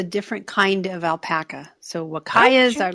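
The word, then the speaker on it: Huacaya: and started with 4 pregnant, I can't even pronounce that. What is that word? Wakaya alpacas.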